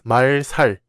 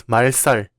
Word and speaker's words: 말살: For example, this word is not pronounced as 말살, it's 말살. And this word is not pronounced as 갈등, but 갈등.